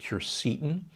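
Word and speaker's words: quercetin: a big fan of kercetin sometimes pronounced curcitin it's a compound that's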